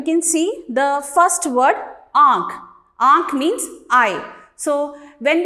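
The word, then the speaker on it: आँख: Here you can see the first word Aankh. Aankh means eye. So when we pronounce this word, you might have noticed that the sound comes from both mouth and nose. Aankh.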